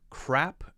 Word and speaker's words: crap: HJK6 says, could you explain the difference in pronunciation between crap and crab?